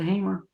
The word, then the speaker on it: Hamer: very famous case hamer i like to pronounce it hamer i don't see two m's there i say hamer versus